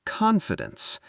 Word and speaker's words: confidence: The word confidence. Let's say it slowly. Con-fi-dence. Con-fi-dence. The stress is on the first syllable.